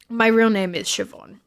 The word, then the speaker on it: Siobhan: So I prefer you guys never use it because like I'm to you guys, but my real name is Siobhan. So yes, which is an Irish name.